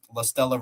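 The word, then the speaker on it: Lastella: Lestella Report. L A S T E L L A report sounds how it's spelled how it's sound how it sounds.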